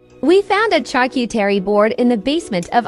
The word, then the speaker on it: charcuterie: We found a charcuterie board in the basement of our new home. Did somebody say cheese board? All right, it's pronounced charcuterie, charcuterie, charcuterie.